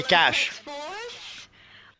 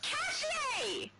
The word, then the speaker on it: cache: Multi does not know how to pronounce this one. I'm right on this one, guys. Come on, you can't even say cash. It's Cache!